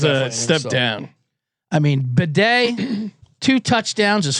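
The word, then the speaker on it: Badie: Bedet actually. Bed. It used to be Baddy and then he got in a fight with his family and changed it to bed.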